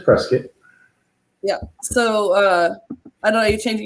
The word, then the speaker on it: Prescott: an issue nissi says is it prescott like biscuit or prescott and so she came on late so it's press get right i don't think it's as prescit like i guess like biscuit yeah yeah so it's press kit yeah so uh i